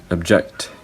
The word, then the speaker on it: object: unstressed syllable now if now for the word object the word object is a verb so for the word object the the first syllable is unstressed the second syllable is stressed and and that means